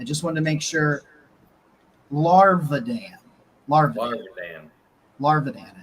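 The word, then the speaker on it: Gage Larvadan: Larvadan is how you say it. Kind of sounds like a Pokemon, honestly. Yeah. Larvadan.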